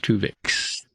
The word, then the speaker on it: Twovix: episode 1 two vix not spelled like the Voyager episode but TW wov iix Tu vix so off we go